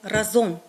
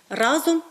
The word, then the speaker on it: разом: ми не чужинці досить часто ми чуємо неправильне наголошування слова разом Бо з уст багатьох українців і з телебачення і з радіо ми часто чуємо разом це наголос неправильний таке слово не має подвійного наголосу тому правильно наголошуємо разом бо згадаємо слоган який